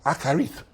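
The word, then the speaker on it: אחרית: That word is pronounced akarith. It's spelled A-C-H-A-R-I-Y-T-H. Akarith. It's a Hebrew word pronounced akarith. Akarith.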